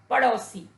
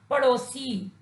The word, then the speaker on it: पड़ोसी: बच्चों, इस शब्द में ड़ के साथ आओ की मात्रा का प्रयोग किया गया है, जिसके कारण ये शब्द अशुद्ध है। जब हम ड़ के साथ ओ का प्रयोग करेंगे तब उसका शुद्ध उच्चारण होगा पड़ोसी।